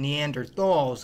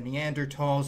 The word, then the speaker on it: Neanderthal: we all called them Neanderthals instead of Neanderthal but just remember Neanderthal is a German word and the Germans aren't too good at pronouncing the th sound Neanderthals were the dominant